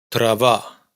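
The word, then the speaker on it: трава: Fijaos que en una palabra como fracaso, y en trabales de la sílaba átona suenan exactamente igual. Pravau trava.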